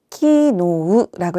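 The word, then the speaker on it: きのう: 기노우라고 읽어서요. 기노. 뒤에는 장음으로 발음해서 기노라고 합니다.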